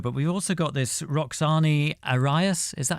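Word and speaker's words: Roxani Arias: So, on Dead Butterflies, we've got Kano, but we've also got this Roxane Arias.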